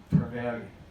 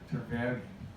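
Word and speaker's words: Trevilian: Trevelyan. Trevelyan. The L's, the second L being pronounced like Hispanic, like a Y.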